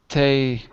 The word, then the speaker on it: té: Do you know in Spanish the film is probably called Te how do you say in Spanish? Deserto. Desierto. How do you say tea? It's te, isn't it?